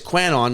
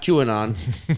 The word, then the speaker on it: Quanon: By the way, it's Quanon, not QAnon. It's Quanon. You fucks been pronouncing it all wrong the whole time because that's me.